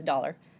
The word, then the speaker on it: dollar: Dollar, which of course means dollar, dollar, we say the R.